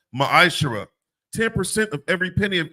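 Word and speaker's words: מעשר: In the Hebrew, it's pronounced ma'ashara.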